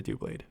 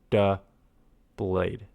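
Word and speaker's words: Doublade: Someone says um I keep calling it Dlade and someone says it's pronounced oh where is that? forget what that comment was. Like double like duh blade because there's two blades like double the blades.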